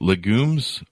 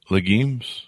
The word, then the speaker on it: legumes: and they're they're uh I can never pronounce this right legumes legumes leg Yeah legumes is that the correct pration I think either one is correct but yeah we